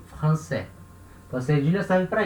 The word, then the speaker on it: français: Sem a cedilha, eu leio franquais, né? Com a cedilha, eu leio français.